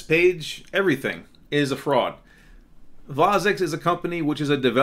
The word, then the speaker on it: Vozex: Actually, he pronounces it Vozex. And Slavic people pronounce their V's with a W. Maybe they're from Poland, I don't know, or Russia. So it's Vozex instead of Vozex, as we say in English.